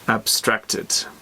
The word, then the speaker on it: abstracted: Stress. So in the second syllable. Abstracted.